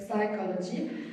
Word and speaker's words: psychology: When you want to say something like psychology, psychological, you don't pronounce the P, so it's not psychological, psychology.